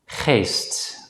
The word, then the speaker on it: geest: For the sake of simplicity, we'll just pronounce the letter G as a voiceless consonant G in this class. Let's practice 3 example words. Gat, geest, dag.